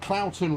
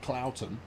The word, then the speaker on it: Cloughton: I get Cloughton wrong every single week. That's because it's stupid. I've got nothing against the town / village of Cloughton, but it's a flipping English town name, and